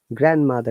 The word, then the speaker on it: grandmother: cook hamburgers katie's grandmother grandmother remember in grand there is no d sound either kratos grandmother is going